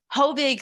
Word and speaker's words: Hovig: We also have Hovig. I hope I pronounced that okay. Is it, please, how would you pronounce it? Hovig, thank you.